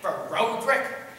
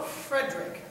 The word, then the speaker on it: Frederick: No, it's pronounced Frankenstein. Do you also say Frodrick? No, Frederick.